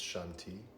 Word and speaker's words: shanti: the mantra here it's shanti the first syllable is the inhale second syllable is the exhale as your body inhales sense or hear shun and as your body exhales hear tea shanty with each cycle you